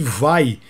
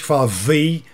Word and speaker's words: Vai: eu tenho Legend in Le Monde est injuste vai tem gente favey não é ele mesmo me falou é Steve